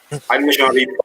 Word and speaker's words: Animashaunhabeb: Can you pronounce that for us? Animation Habib 5.